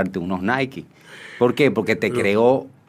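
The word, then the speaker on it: Naiky: Existe mi acta de nacimiento, Nike. N-A-I. I-K-Y. Eso es como se pronuncia, una onomatopeya.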